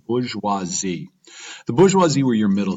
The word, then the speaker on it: bourgeoisie: Again, it's pronounced bourgeoisie.